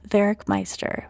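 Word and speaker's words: Werckmeister: Enter a German organist and music theorist named Andreas Vericmeister. Now, Vericmeister, and his name is pronounced Vericmeister with that German W sound, wasn't the first person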